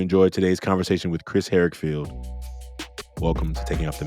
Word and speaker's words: Harrigfeld: I'm like, I'm gonna say his last name wrong. Say your last name for me. Harrigfeld.